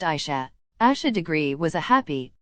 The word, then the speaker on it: Asha: her hair in pigtails her name is pronounced Asha Asha degree was a